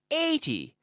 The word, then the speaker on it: eighty: that end in zero 80 with the intonation on the first syllable okay so I have